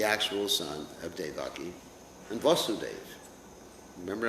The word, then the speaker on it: Vasudeva: And Krishna, Vasudeva Krishna, is the actual son of Devaki and Vasudeva. Remember, I'm pronouncing that word, Vasudeva, Vasudeva. Remember that. Listen to the pronunciation.